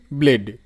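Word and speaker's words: blade: সো কিরকম করে কাজে আসবে দেখো দেখিয়ে দিচ্ছি তোমাদের আরেকটা দাড় যেমন ব্লেড যদি লেখো তুমি বি এল এ দেখো ব্লে আর ডিই ব্লেড তো শব্দের শেষে ই সাইলেন্ট থাকে এই বিষয়েও কিন্তু নেক্সটে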